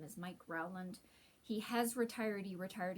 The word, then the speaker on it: Rowland: see somebody talking about a rowland stand or could even be a roland so it's spelled r-o-w-l-a-n-d um that's the floor